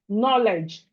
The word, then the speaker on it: knowledge: Example, knowledge. Knowledge is starting with K, but you are not hearing the K when you are pronouncing it.